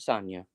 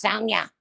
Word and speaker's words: Sonia: I love Sonia. Or as Diane would yell at me, it's Sonia.